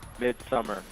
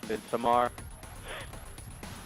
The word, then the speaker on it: Midsommar: Yeah, Midsummer. But it's pronounced Midsommar.